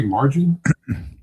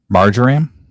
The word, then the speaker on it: marjoram: Did you say margarine? Marjoram. Mhm. Marjoram. Let me spell it out here.